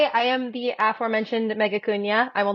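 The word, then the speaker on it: Acuña: It's Acuna, not Acuna. Nobody ever gets it. It's fine. I like to say Acuna rhymes with petunia, but I did not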